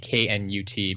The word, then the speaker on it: Knut: But I will still go with him on a K-N-U-T being pronounced Knut.